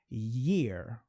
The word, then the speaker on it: year: As pessoas, até se treinar um pouquinho, acham que essas duas palavras têm a mesma pronúncia. E não tem, ok? Ear é uma coisa, a orelha. Year é outra coisa. Year, olha só, eu tô puxando um year. Aqui é ear, tá? Então é bem diferente assim, né?